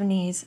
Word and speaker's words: knees: more like T, and the first part of knees sounds more like knee because the K is silent.